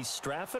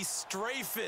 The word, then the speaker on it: Strafen: I.B. Straffen, or is it I.B. Strafen? You've got the pronunciation guide. I.B. Strafen. Strafen. My bad, Mr. Strafen.